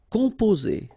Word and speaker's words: composer: Okay, O and M together, after that a consonant, so it's the nasal on. Composer. Okay, you pronounce it z here because you've got two vowels and only one S.